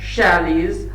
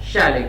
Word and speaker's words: Shelley: शैले के लिए आ रहा है। तो हु और शैले जो है, जो शैले, कुछ बच्चे इसको शैले नहीं शैली प्रोनाउंस करते हैं, तो यहां पर हु